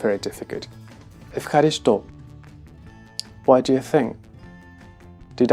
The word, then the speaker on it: ευχαριστώ: This is the word ευχαριστώ. Ευχαριστώ. In this case, apparently what is difficult is the combination f.